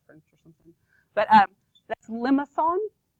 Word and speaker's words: limaçon: This word is limaçon. That's how you say it, limaçon. And the C actually has like this weird tail thing on it.